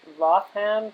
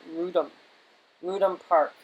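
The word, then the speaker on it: Wrotham Park: And he had this beautiful property called, it looks like it should be spelled, said Rotham, but they pronounce it Rudham Park. Okay, so it's not like the Roth.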